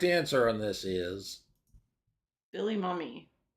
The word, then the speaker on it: Mumy: on this is Billy Mummy you would think it would be pronounced Mumy but it's mummy yep just good see